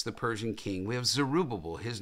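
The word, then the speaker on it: Zerubbabel: then we have hegan did I say zerubba I think I got one one too many B I think I had one too many syllables bus syllables there so we have Darius zerubabel there I think I got that one right and we have hegan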